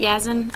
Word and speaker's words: Yazan: your name sir yes yes yes okay i'm pronouncing it right yazin okay all right yes and my name is